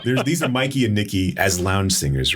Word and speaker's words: Mikey and Nicky: Because these are Mickey and Nicky as lounge singers, or Mikey and Nicky. Goddamn movie name wrong. These are Mikey and Nicky as lounge singers, right?